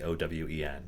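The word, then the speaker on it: Eoghain: our regulars is a player whose name is owen but that's not how it's spelled or at least it's not spelled the traditional like uh american spelling of owen the owen it's like e-o-g-h-a-i-n uh but it's like celtic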